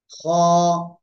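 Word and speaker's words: خ: এই যে অক্ষরটা আছে না এই অক্ষরের মত উচ্চারণ হবে মোটা মোটা আওয়াজে করতে হবে হবে ঠিক আছে খ এক এক আলিফ টেনে পড়তে হবে কয় আলিফ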